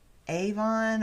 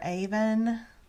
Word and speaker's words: Avon: it's just beautiful also the river Avon or Aven there's two ways I I heard to pronounce it flows through Salsbury adding